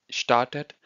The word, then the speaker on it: starte: You pronounce this as sh of show.